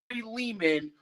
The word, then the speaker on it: Lehman: It's Ari Leman. Leman rhymes with demon.